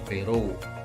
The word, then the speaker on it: Berau: Kalau di Kalimantan, nah ini ada suku Banjar, Beru, ya, Berau tulisannya itu tapi bacanya Beru, ya.